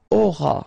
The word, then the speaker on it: auras: E, aurai, alright, then tu auras, final S not pronounced, aura, il aura, elle